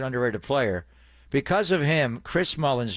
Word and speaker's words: Chris Mullin: and he's an underrated player because of him Chris Mullin name was mispronounced by everybody in the NBA they kept calling him Chris Mullins I'm like you never heard of Chris at